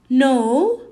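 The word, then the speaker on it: know: is followed with n when the next letter after the k is n we don't pronounce the k that's why we read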